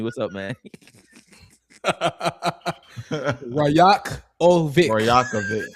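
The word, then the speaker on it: Rajaković: Rajakovic. Nice. That's how you say it, broski. Rajakovic.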